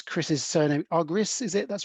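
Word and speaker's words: Argyris: know all things are coming I could ever pronounce Chris's surname agris is it that's right and it's double Loop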